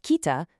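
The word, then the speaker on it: 北: Notice how incredibly visual the character for north pronounced kita truly is.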